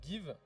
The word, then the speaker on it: Geev: une plateforme qui s'appelle give ça s'écrit geev c'est une plateforme de